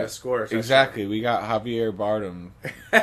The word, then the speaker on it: Javier Bardem: Javier Bardem. Javier Bardem.